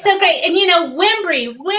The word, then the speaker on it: Wimbrey: They said my name wrong. My dad stood up in front of hundreds of people and said, "That's Wimbrey."